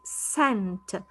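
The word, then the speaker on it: scent: the second one i have sent i do not say sk i say sent let us see is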